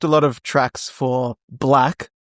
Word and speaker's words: 6LACK: It's so funny cuz he's like got that on like shirts and stuff that it's like it's pronounced black. It's just black.